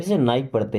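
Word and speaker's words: knife: Okay, this नाइफ is sharp, this means होता है यह, नाइफ मीन्स होता है चाकू, यहाँ पे के साइलेंट होता है जिसे नाइफ पढ़ते हैं।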